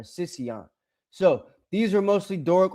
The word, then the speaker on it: Sicyon: Uh and then uh Sic- Sicyon, I think it's how you say it, or Sicyon.